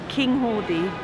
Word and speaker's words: Cynghordy: It's actually Cynghordy. Cynghordy? Yeah. The king of the hordes. Cynghordy. That's just the phonetic way that they've written it.